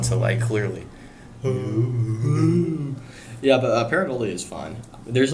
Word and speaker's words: pareidolia: I think I'm Oh pronouncing yeah, that. it's pareidolia.